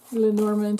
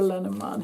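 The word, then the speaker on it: Lenormand: a magic lenorman deck lenorman or lenamon however you prefer to pronounce it okay how many a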